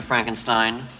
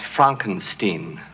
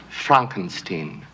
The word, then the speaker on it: Frankenstein: Frankenstein. That's Frankenstein. I beg your pardon? My name it's pronounced Frankenstein.